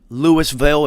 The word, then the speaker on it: Louisville: yeah louisville's another one it could be louisville like louisville slugger louisville like louisville if you're southern lewisville if you don't know if you're not from america it's louisville it's you know i